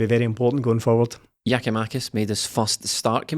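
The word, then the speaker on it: Giakoumakis: i don't know but it's definitely not geomaticus because it cuts out a whole syllable right in the middle of it so really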